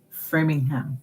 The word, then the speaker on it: Framingham: Framingham, yes.